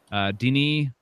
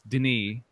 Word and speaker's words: Denis: it's tough it's tough I know it's Denis not Denis alright yeah check it